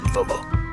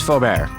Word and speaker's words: Feaubear: planning abilities well done football well thank you that way to take the name's forebear actually did I mispronounce it yep you sure did you just kind of